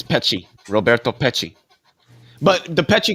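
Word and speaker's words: Peccei: popular communication about it um relative I was pronouncing it wrong field it's it's py Roberto py but the py Quinn theory was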